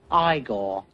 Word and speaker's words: Igor: hilarious he steals this film you must be igor now it's pronounced igor but they told me it was igor well they were wrong then weren't they okay